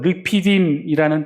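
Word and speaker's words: רפידים: 르비딤이라는 이 단어는요, 이 히브리어로 르피딤이라는 뜻인데, 르피딤이라는 발음, 이 히브리어인데, 이 뜻은요, 시원케 하다라는 말의 뜻을 가지고 있답니다.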